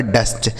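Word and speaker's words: dust: गया दोस्तों डस्ट तो यानी अगर किसी भी दो व्यंजन के बीच में यू लिखा गया हो तो उस यू का उच्चारण दोस्तों हमें क्या कर देना है आ के रूप में कर देना है ठीक है तो यह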